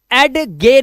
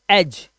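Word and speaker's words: edge: तो इसको कभी भी एड गे नहीं पढ़ते। एडगे। इसे पढ़ते हैं एज।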